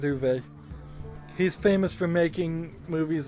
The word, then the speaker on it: Uwe: u b is or is it U it's UWE is how it's spelled but I always heard it as U uh interesting I maybe well I'm going to stick with uve he's famous for making